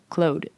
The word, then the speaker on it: Claude: Um, I also hate how everyone's saying Claude because I don't know what that is cuz of course in Quebec that's pronounced clo.